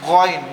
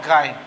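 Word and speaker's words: غين: Now my dear student, this one is Goin, not Gain.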